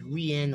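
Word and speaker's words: Rian: My real name is Rien.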